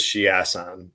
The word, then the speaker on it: Chiasson: You also have like, if you're getting out grappled by Macy Chiasson, and I pronounced it right, it is Chiasson because she's ass.